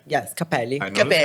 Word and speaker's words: Cappelli: Yes, Cappelli.